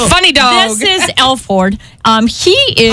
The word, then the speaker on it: Alford: This is Alford. He is... How do you say his name? Alford. Alford. It's not... I kept on saying Alfred, and it's not. It's Alford.